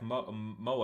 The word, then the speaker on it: Moe: Yeah, and then we cut to Setsuna with Sota's wife, Moe. I think that's how you pronounce it. Yes, it's Moe. Moe, Yes.